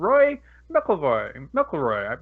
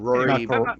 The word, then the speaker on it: Rory McIlroy: All right, NBC Sports and Roy McIlroy. Is that how you say his name? Rory McIlroy.